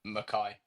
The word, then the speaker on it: McKay: Mackay, yeah, Mackay, Mackay. The Scottish way.